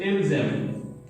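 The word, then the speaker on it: ils aiment: In the same way, it will be helping us with ilzem. Ilzem. You have already seen S ending, vowel beginning, Z sound, il, zem. As here ENT is silent. ENT is silent part.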